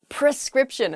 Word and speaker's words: prescription: you guys not to do it that's embarrassing prescription a doctor writes you a prescription not a